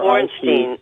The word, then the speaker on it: Bornstein: And it's Bornstein, and for our audience, that's spelled B-O-R-N, like born, Steen, S-T-E-I-N.